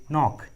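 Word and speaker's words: knock: के का आवाज़ नहीं आ रहा है, के साइलेंट है। Knife and नो। उसी तरह नी, नॉलेज, नॉक, नी, नॉलेज, नॉक।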